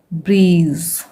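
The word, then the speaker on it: breeze: फिर ब्र ई ज, लास्ट में ई होता है तो ये साइलेंट होता है, डबल ई को ई पढ़ा जाता है यानी कि लॉन्ग ई साउंड, ब्रीज, ब्र ई क ब्रिक,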